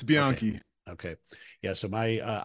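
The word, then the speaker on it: Bianchi: I rode and ride is it bian or how are you supposed to pronounce yep you're right it's bian okay yeah so my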